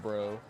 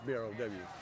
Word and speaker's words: Brow: their last name is Bro, Yeah, spelled B-R-O-S. that's BROW. Oh, it's B-R-O-W? Yeah, the local bros are BROW. Oh, But okay. it's pronounced bro. Not Brow, Bro.